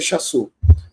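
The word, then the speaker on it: Shasu: Aqui, ó, o Chasu, pessoal, esse S aqui, que tem um acento invertido, na verdade é um Shin, tá? É um Shin que corresponde a SH, por isso a pronúncia é Chasu, tá?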